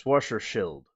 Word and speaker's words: Schwarzschild: The Schwarzschild, the Schwarzschild radius. No, it's Schwarzschild. That's the right pronunciation. Because there's no E in there. So it's just Schild.